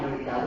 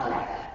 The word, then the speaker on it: Eureka: And then the Japanese original creators watched it and listened to it and they said, no, we don't want it Eureka, we want it pronounced Eureka.